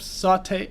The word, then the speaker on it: Saute: part of your name flip saute saute saute saute okay so i was right it's the first time